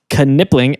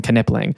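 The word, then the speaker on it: Knipling: they're all wrong and it's nippling because the K is silent in a word like that.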